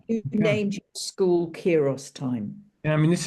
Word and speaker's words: Kairos: Is that the right way to I say pronounce Kairos, yeah, Kairos Kairos school.